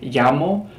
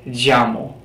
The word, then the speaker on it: llamo: and where you're from, the pronunciation is either like a pure Y, like me llamo, or it could be me llamo. Okay? Just depends on where you're from. Either one is correct.